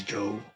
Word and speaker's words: Zhou: I like how they pronounce Zhouw as Joe.